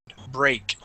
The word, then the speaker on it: break: word break okay now this is going to have a long a sound break break good all right uh